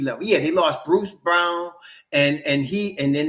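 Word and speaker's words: Braun: guy that was then a rookie Brown uh spelled like brown but it's pronounced Brown coming off their bench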